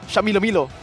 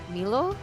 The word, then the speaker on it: Shamilo: you know ghani and shamilo said I think it's broken thank you for saying his name correctly I appreciate that that's how you say his name it's not Milo I mean yeah it's